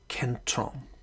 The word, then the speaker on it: kentron: The Greek word is kentron. Kentron.